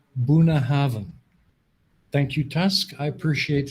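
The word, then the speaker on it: Bunnahabhain: is correcting my pronunciation it's pronounced buna haven thank you task i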